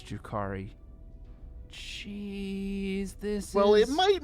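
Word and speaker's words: Drukhari: They might even just be agonizers, which are a weapon used by the, how do you say it? Druki? Drukari is the... Drukari. Okay, Drukari.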